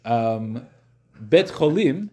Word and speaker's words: Beit Cholim: Beit Cholim, the word Cholim means sick people.